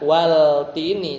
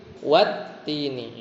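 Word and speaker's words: والتين: Bukan wal-tini tapi wat-tini.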